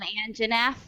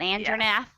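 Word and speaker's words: Anjanath: It's called an Angerath. It's not an Andrenath.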